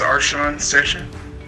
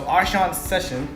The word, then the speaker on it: Arsean Session: name sir introduce yourself my name is arshan sesha awesome so arshan's session did i say that right yes you said it right sir okay so arsham here